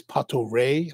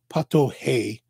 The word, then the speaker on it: Pato Rei: Portuguese or at least in Brazil Portuguese the r's are pronounced like H's like we would say hotel or hotel or a hotel yeah Hotel Pato hey instead of Pato Ray